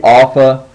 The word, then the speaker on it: alpha: So, for example, the name would be Alpha. You need to know how to write the Alpha in lowercase, and then that it is pronounced like Ah and Father.